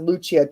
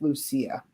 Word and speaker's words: Lucia: But Lucia, Lucia, I've heard pronounced Luchia, too, but I think it depends on what country you're from. But because she Oh, yeah. because she is German, it's pronounced Lucia.